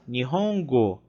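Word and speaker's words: 日本語: Então, vimos que a palavra, né, língua japonesa, né, a expressão língua japonesa, se fala Nihongo.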